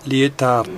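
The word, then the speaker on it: Lietaer: el señor Bernard ler así se escribe y se pronuncia lar Este señor se ha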